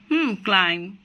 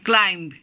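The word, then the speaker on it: climb: যেমন কোম, বোম, থাম, ক্লাইম। আমরা কখনোই বলবো না ক্লাইম্ব, কখনোই বলবো না।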